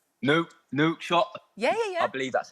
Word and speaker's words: Nouakchott: We're in the capital city of Mauritania, which is called Nouakchott. Yeah. I believe that's how it's pronounced.